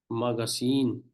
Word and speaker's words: magazine: be the in between for example magazine we have here magazine Str is on the last here P this is here